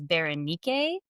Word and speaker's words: Berenice: So I've heard some pronunciations of Berenice's name as Berenike. I mean, I thought it was Bernice.